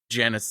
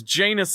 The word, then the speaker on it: Janus: genus Thorns they were originally pronounced with the first syllable rhyming with can so Jan Janice Thorns but then Tom